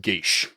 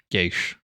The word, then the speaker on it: geas: Um but it's it's because it's a freaking classic Irish word. Um like proper Irish um language and um it's pronounced Geas. Geas.